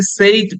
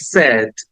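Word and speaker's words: said: পরপর দিয়েছি একটা হচ্ছে আমরা নরমালি এটাকে সেইড বলি বাট ইটস নট সেইড it should be pronounce like সেড সেড সেড right আর এর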